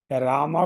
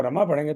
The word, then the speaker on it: रामा: चारण सही नहीं हो रामा को रमा पढ़ेंगे तो चारण सही नहीं होगा राट तो हम य सखते राम है और रामा है तो दोनों अलग अलग है उनका उच्चारण भले अर्थ एक ही हो अगर राम लिखा है तो राम पढ़ेंगे और रामा लि रामा पढ़ेंगे कच कर क्योंकि वो दीर्घ है अब इस काम में